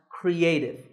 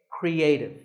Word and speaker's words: creative: the word in phonetic symbols this word is pronounced creative there are three syllables Cree a and tip with the stress on a creative you might not know these symbols very well